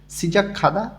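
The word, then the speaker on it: 시작하다: খাচ্ছি একসাথে বা একত্রে, ইল কাজ, সিজাক খাদা শুরু করা। গেয়ক বাচ্চিমের পরে যখন হেউত আসে তখন গটা হেউতের স্থানে গিয়ে ক্ষয়ের মতন উচ্চারণ হয়।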